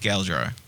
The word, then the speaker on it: Galdrar: the first 2 shows I did with Galdrar, Both the temple.